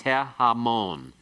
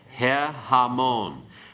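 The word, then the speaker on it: הֶהָמוֹן: If you want to say the multitude, it becomes he-hamon. He-hamon. Okay, remember this is when the article, the he, is attached to a noun that has as its first syllable an unaccented he, ayin, or cheth with a commas beneath it.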